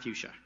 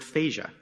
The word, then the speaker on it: fuchsia: this tie is not fuchsia commissioner ostendorf isn't the only one who struggles with the pronunciation of that word in fact my daughter Mia pronounces it faiza now she's four and